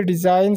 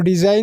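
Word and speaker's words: design: चारों word study कीजिए, डिज़ाइन, small, past और स्पेन। तो डिज़ाइन में ये जी नहीं पढ़ी जाती, ए वाला ऑप्शन ठीक है।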